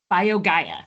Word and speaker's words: BioGaia: BioGaia.